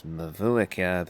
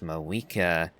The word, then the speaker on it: Mavuika: Now, I keep referring to the Archon as Mavuika because that's how it's spelled. I kind of assumed that the captain was referring to her as Mawika because Russian accent from Snezhnaya. And then Paimon calls her Mawika too.